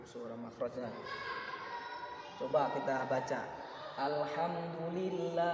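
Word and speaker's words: الحمد لله: Gimana cara baca? Harus di tengah tenggorokan. Alhamdulillah, bukan alhamdu.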